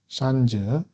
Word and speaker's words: 扇子: 선자, 산즈, 선자라고 하는데요. 이것은 착할 선과 발음이 같습니다.